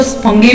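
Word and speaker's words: fungi: कई बार इसको कई लोग इसको फंगी भी बोलते हैं, फंगी भी बोलते हैं, फंजाई भी बोलते हैं, तो आप प्रोनाउंसिएशन अपने तरीके से कर सकते हो किस तरीके से।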